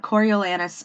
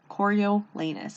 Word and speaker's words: Coriolanus: prequel to the hunger games it is about coriolanus snow i did look up how to pronounce that name coriolanus choriolenous what a mouthful i really hated seeing his